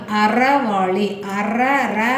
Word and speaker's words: அறவாழி: நம்ம கடவுள் வாழ்த்துல 8வது திருக்குறளாகிய அறவாழி அந்தணன் தாழ் சேர்ந்தார்க்கு அல்லால் பிற வாழி நீந்தல் அரிது. அப்போ இதை உச்சரிக்கும் போது பாருங்க, அறவாழி வந்து மிடில் டச்சாக வருது பாருங்க. அறவாழிங்கும் போது இழி நல்லா பின்னாடி மடிஞ்சு போகும்.